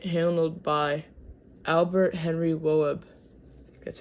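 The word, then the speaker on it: Loeb: The tr the transaction was h handled by Albert Henry WB.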